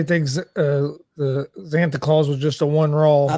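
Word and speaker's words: Xanta Klaus: know this he was I guess it's pronounced Santa Claus x-a-n-t-a clause it must not been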